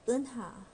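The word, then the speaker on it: 은하: Eunha is a difficult name to pronounce because this vowel doesn't exist in English. Okay, imagine yourself being punched in the stomach. You'd probably say that's the vowel. So Eunha is my name.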